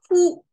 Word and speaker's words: 枯: Ku is how it's pronounced, and essentially it means wither.